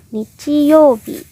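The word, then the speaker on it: 日曜日: Jadi dalam satu kosakata ini aja cara bacanya beda ya. Yang depan dibaca onyomi, yang belakang dibaca kunyomi. Jadinya nichiyobi, hari Minggu.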